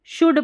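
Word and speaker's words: should: There, देखिए there four का मतलब इसलिए, वी शुड पढ़ना है, इसको शुड नहीं पढ़ना, एल साइलेंट है, शुड maintain, maintain DIDSCIC discipline PLINE discipline या अनुशासन।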